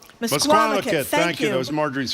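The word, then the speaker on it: Misquamicut: It's pronounced msquamit. MSquamakit.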